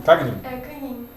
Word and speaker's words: Cagnin: Como é que pronuncia o seu sobrenome? Cagnin? Canin. Canin? Como se fosse NH.